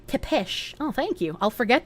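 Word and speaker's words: Țepeș: It's pronounced Tepesh.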